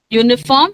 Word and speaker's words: uniform: Uniform has got sound of Y at the start.